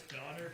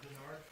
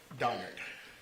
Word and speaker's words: Donard: right thank you it's it's donard not Berard donard I need to apologize